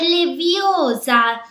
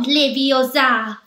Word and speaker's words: Leviosa: Per di più, sbagli pronuncia. È Leviosa, non Leviosa.